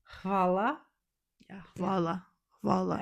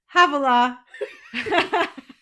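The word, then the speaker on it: hvala: And then so in Croatian, forgive my pronunciation because I know this is wrong, but to say thank you, it's va va va.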